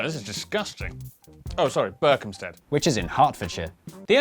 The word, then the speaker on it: Berkhamsted: Oh, sorry, Berkhamsted. which is in Hertfordshire. The only way to be absolutely sure of pronouncing British place names correctly is to live